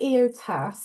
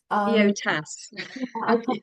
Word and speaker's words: EOTAS: say what is EOTAS, but how did you pronounce it? I say EOTAS. EOTAS.